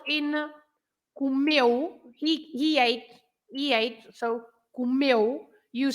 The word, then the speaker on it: comeu: So comeu. You say meu. The stress is on meu, not comeu.